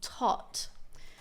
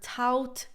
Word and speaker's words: taught: So I've heard tout tuck tucked. Really the pronunciation is more it's way more simple. Tot like just ignore all those extra letters. There's too many letters in this word.